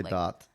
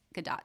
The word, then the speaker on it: Gadot: I think that would be Gadot. Gadot.